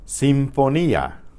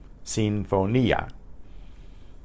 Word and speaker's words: sinfonía: Sinfonía. Sinfonía. Sinfonía. S-I-N-F-O-N-I with an accent on it, A. Sinfonía. That accent tells you that the I is pronounced separately from the A. It's not a blend of sounds.